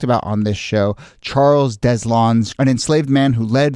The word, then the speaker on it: Deslondes: jump in but we're going to go with deslon is the pronunciation here um if you were saying this in Spanish and this will tell you how it's spelled but you'd say deson um but you know I think deslon there